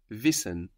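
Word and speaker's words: wissen: H H and D to know in German is visen VIs v v it's spelled w i s s e n v v like wi like the word wise in English how would you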